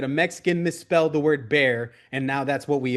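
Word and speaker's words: Bexar: have been filing in Bear County, which again, somebody wanted to call it Bear County, but they were hardcore Mexican American, and they, you know, it it's pronounced wrong. They put an X in there, and that's where that comes from.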